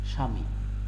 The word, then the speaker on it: স্বামী: পর্বে আলোচনা করা হয়েছে স্বামী দেখো এই যে বফলা আছে এখানে উচ্চারণ হয়নি কেন হয়নি শব্দ শুরুতে এসেছে তাই স্বাধীন শব্দের শুরুতে